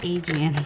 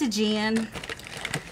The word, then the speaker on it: Aegean: nice the aegean blue i know how to say it i just want to read it as i always say adrian i know it's a jan i do i get